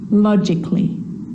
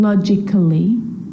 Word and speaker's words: logically: with the letter A now the letter A can be silent especially in words that end in a ll Y like these romantically musically logically so I'm not pronouncing romantically musically and logically cut the a out